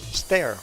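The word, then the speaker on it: Steyr: I checked the pronunciation it sounds like stare like I'm staring at you or a staircase stair okay I'm try to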